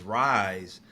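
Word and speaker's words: RYSE: of our company is Rise um R and spell it R Y S E you know recognizing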